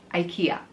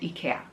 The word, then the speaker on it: IKEA: absolutely 100 know that in the us or north america you pronounce ikea ikea and that is great for you however i live in europe and ikea is from europe it's swedish and here we call it ikea like the swedish people call it ikea